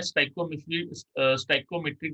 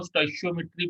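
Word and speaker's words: stoichiometry: नाउ सबसे पहले मैं स्टाइकोमेट्रिक डिफेक्ट, इसको स्टाइशियोमेट्री बोलते हैं या स्टाइकोमेट्रिक डिफेक्ट भी बोल देते हैं। तो दोनों टाइप की प्रोनाउंसिएशन आपकी चलेंगी, स्टाइकोमेट्री या स्टाइशियोमेट्री, कोई भी गलत नहीं है, दोनों बिल्कुल ठीक है।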